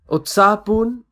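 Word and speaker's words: उत्साहपूर्ण: Utsahpoorn, lively or excited. Utsahpoorn, which is pronounced as utsahpoorn, which means very excited, very lively.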